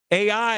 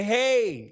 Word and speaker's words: Ai: AI is not called AI. It's called hey. And that word when you say hey, you're saying ruin.